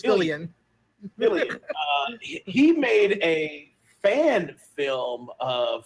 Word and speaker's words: Fillion: And based on the missed opportunity for Sony, Nathan Fillion, I always mispronounce it. It's Fillion.